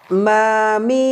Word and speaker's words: মীম: তো মিমের মাখরাজ হলো দুই ঠোঁটের একেবারে এই শুকনো অংশ, একেবারে এমন নয় হালকা পরিমাণে আমরা এই শুকনো অংশের সাথে লাগিয়ে আমরা উচ্চারণ করব। ঠোঁটটা লাগান, লাগিয়ে নাকের বাঁশি থেকে আমরা মিম বর্ণটি উচ্চারণ করব।